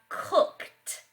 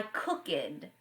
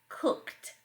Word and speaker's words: cooked: for a call yesterday some words sound like tea I cooked it's a common error for students to say I cook it but the word is pronounced cooked cooked there would be time